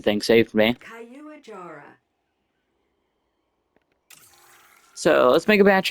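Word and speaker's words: Caiuajara: The pronunciation thing saved me. Kayuajara So let's make a batch of these.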